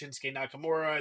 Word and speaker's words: Shinsuke Nakamura: Like, yeah, they may not know that Shinsuke Nakamura's name is pronounced Shinsuke Nakamura, and they may not know that Asuka is pronounced Asuka.